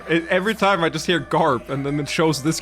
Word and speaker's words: Gaap: of you teleportation bro the pronunciation is identical to GARP from One Piece GARP seeing all free bunny